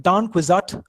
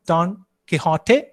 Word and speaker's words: Don Quixote: So here is the novel Don Quixote by the Spanish writer Miguel de Cervantes. So in this novel, you have this famous character, literary character, Don Quixote, Spanish pronunciation, or Don Quixote, from which you get this English adjective, quixotic.